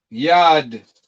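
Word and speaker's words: יד: Yad.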